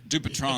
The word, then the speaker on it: Dupuytren: Dupuytren's. I always say Dupuytren's with a kind of a French accent. It's sort of a French with a Texas twang.